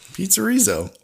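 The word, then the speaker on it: Pizzerizzo: they do muppet vision the p p pizzerizo there's no a it's like pizzerizol but they're gonna have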